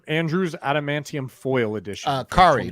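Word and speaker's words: Kaare: adamantium foil edition uh kari like atari kari adamantium foil from marvel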